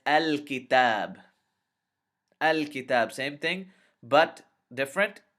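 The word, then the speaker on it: الكتاب: of the calf is far away and it's al-kitab al-kitab same thing but different this is this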